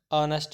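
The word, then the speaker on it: honest: For example we must reach our destination with N आर, ही इज़ एन ऑनेस्ट मैन, यहाँ पे भी H silent है।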